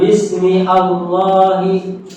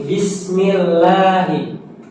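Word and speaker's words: بسم الله: saja gitu Pak Bismillahi Jadi bukan Bismi Allahi bukan ya tapi Bismillahi I itu berarti apa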